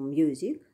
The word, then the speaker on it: music: For example, music, the first syllable is stressed, but musician, the second syllable is stressed.